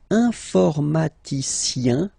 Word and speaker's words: informaticien: And the last group is IEN, informaticien, yin. So that's the way to pronounce this IEN, yin.